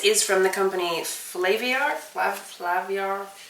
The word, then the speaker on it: Flaviar: Flaviar. That's exactly how they wanted you to pronounce it.